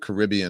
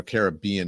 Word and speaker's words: Caribbean: There's photos and videos from Jeffrey Epste's private Caribbean or Caribbean is the correct pronunciation, the island on Wednesday